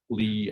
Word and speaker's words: Lie: derivative um so um in the same way that pronouncing euler is euler is a death sentence um pronouncing li as lie is also a death sentence so um with uh